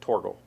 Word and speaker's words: Thorgal: on a game for forgo or if you're polish they pronounce it torgel it's fine um and